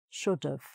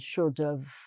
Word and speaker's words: should've: might say should have, should have. So you just make a V sound at the end, should have, like that, should have.